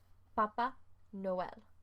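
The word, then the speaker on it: Papá Noel: And you have to be careful how you say it, because if you say Papa, then it's the Pope. But if you say Papa, then it's Santa Claus.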